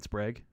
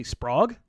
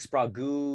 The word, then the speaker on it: Sprague: they say they're wrong would they say sprog oh sprog sprague spragy spraggy uh one time i got